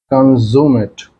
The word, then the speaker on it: consummate: Consummate. Consummate, or you can say also in this case, uh, while pronouncing, you can put your stress on CON part also.